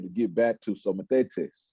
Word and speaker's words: mathetes: I'm not sure about that, but I said Mathetes, but Hey, I like it. Mathetes.